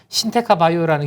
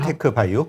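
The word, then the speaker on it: 신테카바이오: 그 후보군 중에 하나가 참여하는 기업이 신테카 바이오라는 기업이 참여를 신테크 바이오? 신테카 바이오. 신테카 바이오. 예, 죄송합니다. 제가 발음이.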